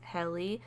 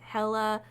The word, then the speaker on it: Helle: And I'm going to go by the way her family pronounced it, which is Helle. There are some people that said Hella, Heel, like, oh my gosh.